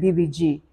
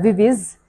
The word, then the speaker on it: 비비지: But then I remembered in Korean, they don't have a V in their alphabet, and they also don't have a Z or a Z. So V is actually pronounced a B-I, like B, and then Z is like G. So that's how when you hear them talking, they'll be like BBG.